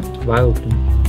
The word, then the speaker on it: Vileplume: How do you pronounce that? Vileplume.